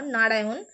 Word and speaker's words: নারায়ণ: কেন হবে কারণ হচ্ছে আমরা যখন অন্তুস্থ অটা উচ্চারণ করছি অন্তুস্থ অ এর পরে এই যে মূর্ধন্য ন টা আছে দেখুন এই মূর্ধন্য ন টা যখন উচ্চারিত হচ্ছে অন্তুস্থ অ এর পরে তখন আমাদের জীবটা ভাঁজ হয়ে মূর্ধাকে স্পর্শ করছে আমাদের জীব অন্তুস্থ অচ্চারণ